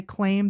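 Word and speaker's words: CLAEM: c-l-a-e-m I think so we're just gonna say claim that's the pronunciation that I've been seeing and going with and it's like the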